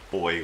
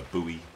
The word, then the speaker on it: buoy: out here over to the boy or the buoy depending on how you say it oh my goodness we've